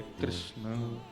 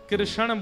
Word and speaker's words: कृष्ण: ठाकुर जी का नाम लोग अधिकतर कृष्ण शब्द का उच्चारण गलत करते हैं। कई लोग कृष्ण कहते हैं। कई लोग कृष्णा बोलते हैं। कई लोग कृष्ण बोलते हैं। बहुत उच्चारण उसका शुद्ध नहीं कर पाते। शुद्ध उच्चारण कृष्ण जय बोलो वृंदावन बिहारी